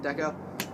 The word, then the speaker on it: Dekko: the seat we have a dekko seat yeah that's nice pronounced deco just i got from